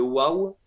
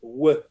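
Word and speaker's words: ו: qui est en fait le waw qui se prononce we. Le waw va ou se prononcer we ou comme les voyelles o ou bien ou. Sa fonction en hébreu ancien.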